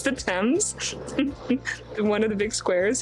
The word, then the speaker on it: Thames: Also, I find it really funny that the Brits seem to eat the letters in some of the names of their major sites.